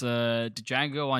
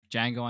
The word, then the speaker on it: Django: So going back from the list, it's Django Unchained or Django Unchained. How There we go. how Ethan wants me to pronounce it. That's how it's pronounced there.